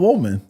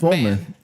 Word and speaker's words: woman: And also, why are people upset about woman? Cuz it's not woe. It's woman. It's not wo, man.